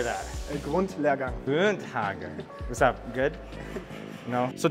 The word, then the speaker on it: Grundlehrgang: A Grundlehrgang.